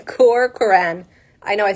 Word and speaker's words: Corcoran: It's Corcoran. Okay, I kind of said it right. Yeah, I it's kind of said it. right. then the last name is like Corcoran.